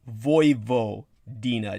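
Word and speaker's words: Vojvodina: v o j v o and uh it's pronounced voo Dina d i n a and uh it's named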